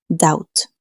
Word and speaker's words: doubt: Es una de esas palabras tramposas en inglés, porque la letra B es totalmente muda, así que se pronuncia algo como doubt.